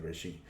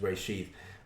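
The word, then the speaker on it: reshit: where she rasheed he might pronounce it as rishi i pronounced his rasheed because the way i was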